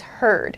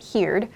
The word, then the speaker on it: heard: here i've used heard the pronunciation is heard not heared heard i heard the news